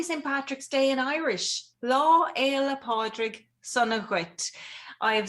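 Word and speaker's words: Lá Fhéile Pádraig sona duit: Lá Éile Pádraig Sunna Ghuit. I have spelled it out phonetically as well.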